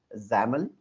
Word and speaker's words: XAML: application markup language but the pronunciation is xaml similar to or rhyming with camel so it is a